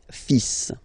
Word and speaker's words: fils: Okay, so it's le, and then even if you've got this L, well, basically you don't pronounce it, and then strangely you pronounce the final S. le fils, le fils, le fils, le fils.